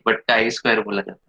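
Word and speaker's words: chi-square: Pronunciation शायद मेरा गलत हो सकता है, ची स्क्वायर टेस्ट बोल सकते हैं। ठीक है, बट काई स्क्वायर बोला जाता है।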